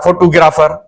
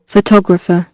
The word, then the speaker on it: photographer: उचार हिकु त जेको आहे असां ग़लति आहे, फोटोग्राफर। ठीकु आहे, सिंधी में असां चई सघूं था, पर इंग्लिश में ओरिजिनल प्रोनाउंसिएशन कढणु ज़रूरी आहे। हाणे हिन जो तव्हां ऑक्सफोर्ड में उचार ॿुधो, photographer, photographer, हाणे चयो त मां फोटोग्राफर आहियां, सिंधी